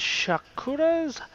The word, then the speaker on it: Shakuras: I've played this map it is known as Shakur's Plateau that is how I'm going to pronounce it because it kind of sounds like Shakira Shakura and I like Shakira and